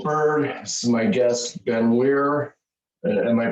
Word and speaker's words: Ben Weir: Yep, Ben Weir. Yep, like Mike Weir, Bob Weir, the golfer, the Grateful Dead. However you want to remember it. It's just weird without the D.